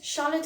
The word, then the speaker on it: Charlotte: you can say charlotte charlotte is a name again ch is pronounced here as sher charlotte machine machine very common